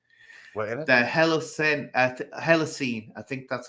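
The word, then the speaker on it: Holocene: we're in us the hell of scent uh hella seen i think that's how you pronounce it h-o-l-o-c-e-n-e extinction and i'll just give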